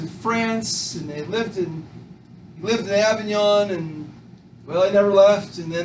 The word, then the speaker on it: Avignon: I'm not gonna spell that. So Avignon, A is in Adam, V is in Victor, I-G-N-O-N, Avignon, the Avignon Papacy.